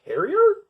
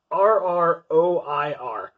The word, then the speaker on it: terroir: I'm not even sure exactly how to pronounce that. Like, terrier? Terroir.